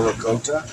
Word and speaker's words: ricotta: You just want to take your ricotta, or ricotta, as it's properly pronounced.